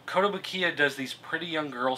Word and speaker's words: Kotobukiya: Kodobukaya. Did I pronounce that right this time? Kotobukiya? Kotobukiya.